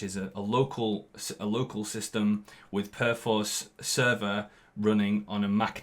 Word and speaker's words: Perforce: and by the way, they tell me it's called Perforce. That's how you're supposed to pronounce it, Perforce, which sounds just a bit posh and pants to me.